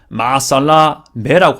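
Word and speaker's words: مع السلامة: 근데 마살라마티지만 보통은 마살라마라고 보통 해서 뒤에 T 뺍니다. 발음을 문법상 알기 때문에. 근데 또 제가 거주하고 있었던 예루살렘 이런 데 아랍 지역 이런 데서는요 마살라메라고 하더라고요. 마살라메. 그래서 전 매번 마살라메라고 항상 말했던 기억이 있습니다. 사투리긴 하거든요.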